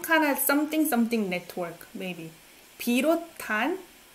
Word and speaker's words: 비롯한: 비롯한. I pronounce this one as T sound. 비롯한. Right? 비롯한. SNH sounds like T.